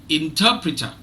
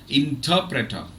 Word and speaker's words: interpreter: more in in interpreter interpreter so the last R the final R is not pronounced it's not interpreter okay